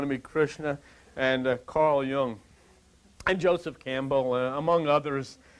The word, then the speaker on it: Jung: But Carl Jung, and his name, incidentally, was spelled J-U-N-G. It's pronounced Jung.